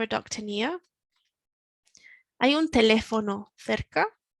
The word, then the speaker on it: teléfono: ¿Hay un teléfono cerca? Teléfono, we've got the accent on the E, so we can kind of hear the word, the tone in our voice climbing up in the middle.